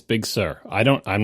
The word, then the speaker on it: Big Sir: said it let me let me give you the two ways ready big sir that's Accent on the first one big sir Accent on the second one and Big Sir equal accent it's not am I